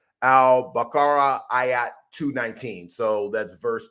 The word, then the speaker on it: al-Baqarah: The actual how you would actually pronounce it is the Surah 2 al-Baqarah ayat 219.